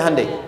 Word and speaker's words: Hyundai: Kita bisa kita dari tekad sehingga ketika di sana bikin Honda sini Hande Hyundai kan dibacanya Handai ya kan sana Honda sini